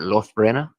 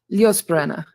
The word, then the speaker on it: Liosbrena: Known as, how do you pronounce that? Is that Losbrena? Liosbrena. Liosbrena. Okay.